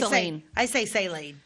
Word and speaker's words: Saline: up that's you mhm so it's not S no I say sine well is Southern Illinois